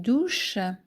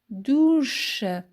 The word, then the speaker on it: douche: Je prends une douche. Je prends une une douche. Douche. Les lettres CH se prononcent. Ch. Et les lettres Ou donnent le son ou ou douche douche.